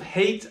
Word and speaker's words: hate: hate eating broccoli hate and the sounds of hate are a hate and hopefully you can see